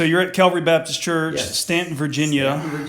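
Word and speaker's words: Staunton: it but that doesn't change of that so Stanton is pronounced ant with an au so how do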